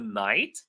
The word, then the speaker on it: knight: The knight, the K is silent.